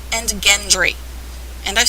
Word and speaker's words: Gendry: note gilly and gendry the two most strangely pronounced names hard g's and yes i've heard people call them jilly and gendry yeah it looks like